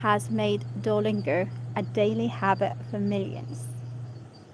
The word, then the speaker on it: Duolingo: Let's see how to pronounce the app name. Duolingo. It's Duolingo, yeah.